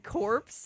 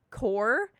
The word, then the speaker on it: corps: ripped me to shreds for accidentally saying corpse instead of core ordnance corps yeah she doesn't know